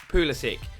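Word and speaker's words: Pulisic: Now, there's a lot of debate about how you pronounce it. It is Pulysick. I watched a video of him introducing himself and that is definitely how he said it.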